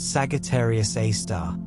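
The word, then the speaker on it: Sagittarius A*: massive black hole called Sagittarius A asterisk, pronounced Sagittarius A star, which contains a mass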